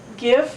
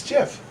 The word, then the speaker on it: GIF: on a daily basis gif or Jif it's Jeff and I know gifs